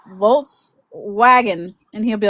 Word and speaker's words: Volkswagen: So, he'll come out there and say, "Yeah, call customer for Volswag Volw Wagon or something like that."